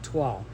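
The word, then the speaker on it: Twaal: I'm here to bring you a video on the fall for twal. Okay, my friend Lori sent me a thing to know how to pronounce it, and I spelled it out, T-W-A-A-L, twal. Now I could say it right.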